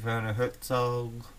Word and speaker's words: Werner Herzog: Pete, Werner Herzog. Yes, that's how it's pronounced.